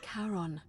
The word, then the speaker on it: Charon: That's a mighty It's just Karen. as you That's described exactly what she Only looked like. Your pronunciation is a little off. The name you heard wasn't Karen. It was C-H-A-R-O-N. As in Charon, the ferryman of the dead.